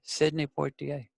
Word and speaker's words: Sidney Poitier: Well, how do you pronounce his name? They said Sidney Poitier.